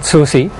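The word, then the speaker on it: SOOSCI: Our social network is called SOSI. SOSI? Yes. Could you spell that for us?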